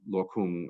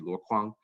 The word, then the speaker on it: Luokung: case of of uh of lokum again the chinese would be lokwang and i i have